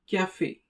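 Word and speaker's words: café: The sound produced is a just like the word say in English. For example, a cafe. A cafe which means a coffee. The a sound is due to the ao used on the letter e at the end.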